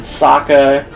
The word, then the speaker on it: Sokka: I felt rage as soon as they pronounced Sokka's name wrong. Sokka. Sokka. You pronounce everyone's name in that wrong.